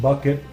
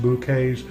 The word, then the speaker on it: Bucket: Up Appearances, this is hyasin bucket pronounced bouquets, royal dolan with hand painted periwinkles.